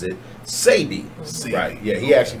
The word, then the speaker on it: Sebi: it's not this ad STB I sometimes accidentally pronounce it semi but if you say save me or semi